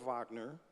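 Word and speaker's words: Wagner: So I met Core Vagner. The the Germans pronounce W's with a V and the Dutch, too.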